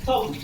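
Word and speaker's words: thumb: कहते हैं यदि किसी स्पेलिंग में एम के बाद बी आए तो प्रायः बी का उच्चारण नहीं होता है, बी साइलेंट हो जाता है। फॉर एग्जाम्पल बॉम, कॉम, थम।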